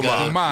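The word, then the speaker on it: goomah: And that's the correct pronunciation of The Sopranos, right? Is it Guma when you Guma. Yes. You Guma.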